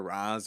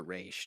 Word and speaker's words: Ra's: It's either Raz or Raish, depending on who you ask.